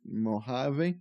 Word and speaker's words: Mojave: So Mojave is spelled Mojave, but they pronounce it Mojave. VoiceOver pronounces it correctly.